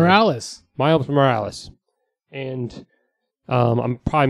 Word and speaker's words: Morales: Morales.